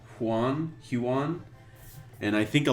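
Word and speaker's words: Huion: art supplies this lighting table it's called a it's spelled hu IO n huan huan and I think a lot of tattoo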